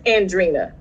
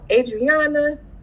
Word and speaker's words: Andriena: the teacher colin rowe my name is andrina right once you learn it's not hard to say but phonetically i can see where it trips people up with the vowels and she followed the world adriana adrian andrea and then she quit and she said coleman